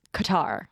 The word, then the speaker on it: Qatar: very very is is I think it's pronounced cutar in Arabic yes but the like Americanization that's like the common pronunciation like I'm not saying Iran or Iraq oh God it's Qatar Qatar Qatar uh Qatar